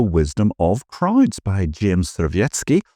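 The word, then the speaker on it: Surowiecki: of crowds by JM svetki or ciki if you want to pronounce him in American who explored a deceptively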